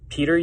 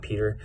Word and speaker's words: Petr: We'll start at the bottom with Petr Yan, or Petr Yan, or however he likes to have his name pronounced, but it's not Peter.